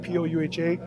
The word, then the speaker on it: Po'uha: And then my last name is Pouha, P-O-U-H-A, but it's a B pronunciation, so it's Pouha.